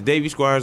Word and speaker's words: Davey Squires: So, you said it's Davy Squires on Facebook. How do you spell it to make sure everybody gets the correct spelling?